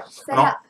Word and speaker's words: Mphela: Fela. Kamo Mphela. M is silent.